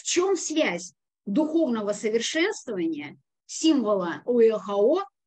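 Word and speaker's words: Oeaohoo: Его можно произнести как один, три или семь слогов путем добавления, добавляя «и» после «о».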